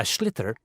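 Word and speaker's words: sliotar: this ball called a schlitter that's s-l-i-o-t-a-r so it's not spelled the way it's pronounced you hit it into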